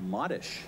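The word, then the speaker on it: Marysz: have a friend uh named modish that is spelled m-a-r-y-s-z try trying try uh showing people you're you're and that's mary in polish i guess modish that sounds more like it yeah she's also uh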